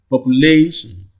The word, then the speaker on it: population: the other time that if the word ends with i o n you count two syllables from the right the rule also applies here population so if you count from the from the right you see that the primary stress falls on this only that is the third syllable from the from the left the third syllable from